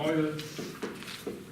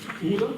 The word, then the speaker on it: Euler: All right, so let me start with the Euler equation. It's not pronounced as Euler, it's Euler, it's the French name, named after the person who came up with this equation first.